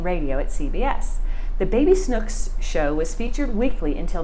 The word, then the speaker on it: Snooks: But Brice actually became most famous for her character, Baby Snooks, which she pronounced Schnooks.